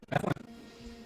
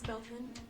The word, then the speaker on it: Belfin: Bethlin, you're up. It's Belfin.